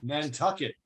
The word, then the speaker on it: Nantucket: ¿Cómo se pronuncia? Nantucket.